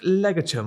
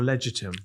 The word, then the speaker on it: Legatum: Is it pronounced legatum or legitum? Legatum. Legatum. Yeah.